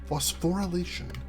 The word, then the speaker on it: phosphorylation: Ooh, yeah, I was missing a syllable in there. Thank you, Kissa. Phosphorylation.